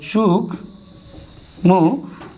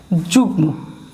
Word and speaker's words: যুগ্ম: ওকে, এরপরে আসি যুগ্ম। তাহলে এই যুগ মু, ওকে, যুগ্ম, এখানেও কোনো চন্দ্রবিন্দু না।